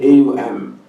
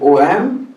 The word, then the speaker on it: Om: Although some people do, they write A-U-M and Aum, just to perhaps do justice to the three mantras, but no. You neither write A-U-M, nor do you now pronounce A-U-M, you write O-M and pronounce Om.